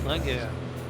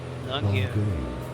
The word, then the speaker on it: Longueuil: Longueuil, so in English you can say Longueuil. Longueuil.